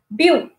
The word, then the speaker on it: beau: but used in the English language as well boom okay it is pronounced as boo okay it is a French